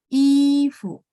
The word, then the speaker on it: 衣服: 衣服, fu-nya nada 5 teman-teman ya. Tidak ada tanda nada, jadi bacanya pendek dan ringan. Dia dipengaruhi sama si i. Ifu.